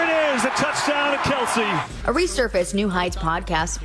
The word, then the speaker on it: Kelce: have a podcast, and their last name's not Kelce.